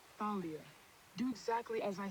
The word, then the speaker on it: Thalia: I still don't like the fact that it's pronounced Thalia. I kind of want to keep calling her Talia, but I know names mean a lot in this world, so I'm going to call her Thalia, but don't like it.